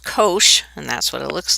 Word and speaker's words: cosh: this graph now the hyperbolic cosine and that's pronounced cosh and that's what it looks like is the